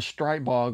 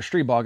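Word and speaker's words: Stribog: root cause of the stripe bog or stree bog i should say that's a proper pronunciation i wasn't sure what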